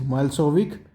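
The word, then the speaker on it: Milošević: देश में युगोस्लाविया में मेजॉरिटी किसकी है सर्ब्जोत मल्स विक pronounced मेलस विक हैड वन the election तो यहां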